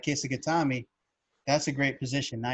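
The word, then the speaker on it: kesa-gatame: It's Kesagatami.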